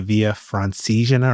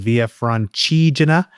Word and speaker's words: Via Francigena: I spent a decade calling it the Via Francigena, or maybe 2 decades, and it was only in the last kind of year I found out it's called Via Francigena.